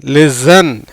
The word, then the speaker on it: listen: ஏன்னா இஎன் கடைசியில் டீக்கு உச்சரிப்பு கிடையாது. எல்ஐ உயிர்மெய் எழுத்து, எஸ்இ உயிர்மெய் எழுத்து, என் மெய் எழுத்து. எப்படி வருது? லி, சே, இன், லிசன்.